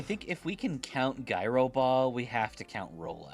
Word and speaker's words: Gyro Ball: But yeah, I I think if we can count gyro ball, we have to count roll out. They're doing the exact same thing. It's pronounced Euro Ball, right? I'm sorry. It's Euro Ball.